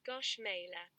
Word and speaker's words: gâche mêlée: Guernsey rice is used in official ceremonies, as well as naming traditional local dishes like the apple cake gâche mêlée, pronounced gauche mêlée.